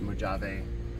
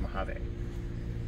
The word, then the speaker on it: Mojave: and the Mojave notice I said Mojave not mujave or Mojave whatever you want to call it's Mojave and if I'm saying